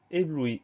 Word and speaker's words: ébloui: Difficile, lorsque, morceau, protection, succès, talent, celui-ci à prendre, ébloui, éclaté, composé, plusieurs, mourir, prodige, Autriche, peiner.